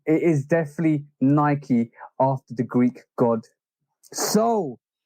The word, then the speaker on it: Nike: because it's definitely called Nike you I I know there's a misconception when you read it like Mike it's Nike it's not because the